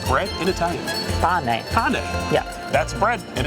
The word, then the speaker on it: pane: Pane.